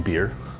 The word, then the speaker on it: Bier: Ein Bier. That's how they say it? Beer? Yeah. Oh, it's B-I-E-R. Yeah, it's beer.